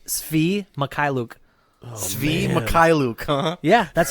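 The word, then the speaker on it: Mykhailiuk: Mikhailuk, huh?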